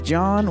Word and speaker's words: John: and my name is John with an H silent H silent H get your